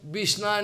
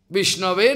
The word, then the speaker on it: Vishnave: They somehow can, Vishnaya Namaha, Vishnaya Namaha. They cannot speak. Vishnave Namaha. They cannot speak. They can Vishnaya.